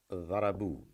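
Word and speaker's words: ضربوا: And there is an alif, silent alif, which is added at the end, playing no role whatsoever in its pronunciation, in its reading, but it's just customarily used for the purpose of writing, which really means dharabu means they beat up.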